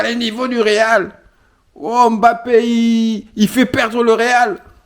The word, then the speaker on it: Mbappé: m'énerve il s'appelle pas Mbappé il faut bien prononcer les noms des gens il s'appelle Mbappé Mbappé monsieur trois but c'est c'est le même